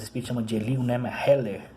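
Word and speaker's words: Hillel: Heller, a pronúncia certa do nome.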